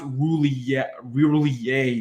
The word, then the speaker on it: Roulier: It's spelled Roulier. I pronounce it William? Roulier, but it's apparently pronounced Roulier or something like that.